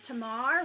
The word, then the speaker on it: Tamar: I'm Tamar, rhymes with star, Tamar Ha Ha Ha Ha.